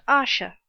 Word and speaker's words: Ayesha: His name is Ayesha." Pronounced Asha.